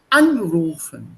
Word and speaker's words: anrufen: It's taken German here, but the stress marker before A, anrufen. Anrufen.